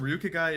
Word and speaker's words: Ryukagai: And yes, I did confirm Ryukagai is how you say Willie's name.